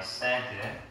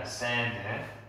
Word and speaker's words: said: 자, he said요, said. 이거 I 안 나고 I 발음 안 나고 그냥 sad입니다. sad.